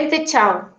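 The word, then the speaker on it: Ven Te Chow: Que se escribe B corta E N T E, todo separado, son tres nombres distintos. Vente C H O W, Chau.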